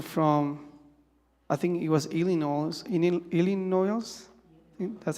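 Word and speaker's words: Illinois: Uh some people from Texas, other people from I think it was Ilino that's how you pronounce it.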